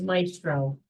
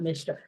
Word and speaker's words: Maestro: It's Maestro, that's why. Maestro? Not Mistro.